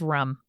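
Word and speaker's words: Rùm: helpfully included pronunciation and it is pronounced like rum all right tight there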